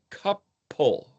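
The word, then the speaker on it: כפל: How would you pronounce that? Couple. K P A K P L. Couple.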